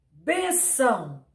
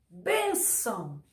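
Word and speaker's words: bênção: ou on um exemplo benção benção benção por mais que o ou seja uma sílaba aparentemente forte o bem sai como mais intensidade benção benção então a sílaba forte é a penúltima e ela é acentuada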